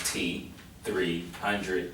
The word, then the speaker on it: T3hundredd: exactly what you're doing well my name 10300 y'all said is pronounced t300 and it would actually